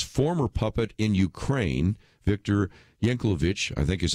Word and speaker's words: Yanukovych: with Vladimir Putin's former puppet in Ukraine Viktor Yanukovych I think is how you pronounce his name including at least 12 million